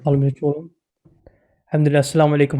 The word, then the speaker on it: Almir Colan: Am I pronouncing that right? That's right. Almir Colan.